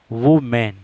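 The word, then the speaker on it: woman: مین آدمی، مین آدمی، وومین عورت، اس کا لوگ تلفظ غلط کہتے ہیں، ویمن کہہ دیتے ہیں، تلفظ اس کا ہے وومین، مانا عورت، وومین۔ بیچلر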